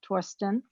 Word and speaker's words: Thorsten: with an h it's t-h-o-r-s-t-e-n although it's not pronounced as a the it's a torsten okay all right so we'll we'll uh uh